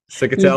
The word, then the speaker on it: Ciccatelli: Sick of tell.